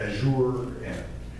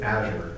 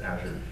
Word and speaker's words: Azure: Amazon Web Services, Microsoft Windows, Azure, which is the worst brand in the world because everybody says it incorrectly. You got Azure, but trust me, it is Azure.